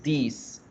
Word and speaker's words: these: Y la plural se dice these are, these are, these are. Hay que aprender a pronunciarlos para que no se confundan entre los dos. This, these, this. El segundo se alarga un poquito.